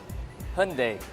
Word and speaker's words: Hyundai: brand is it highly Hyundai or is it your name that's easy its Hyundai like Sunday there you go told you